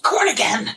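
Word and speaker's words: Corrigan: In 1938, Douglas Wrong Way Cornigan, I don't know how to pronounce his name. It's Cornigan!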